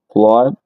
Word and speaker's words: flood: Hay un caso en particular que recuerdo ahora cuando tiene W y no se pronuncia como U, pero son escasos. Por ejemplo, si tienes la palabra inundación, bueno, tienes ah, bueno, dos que recuerdo en este momento, por ejemplo, flood, inundación o sangre. Blood, sí, que mira que